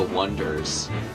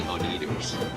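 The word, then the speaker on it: Oneders: was about like this band that's called The Wonders, but it's spelled O-N-E, like the number 1, so people keep calling them the Oneaters.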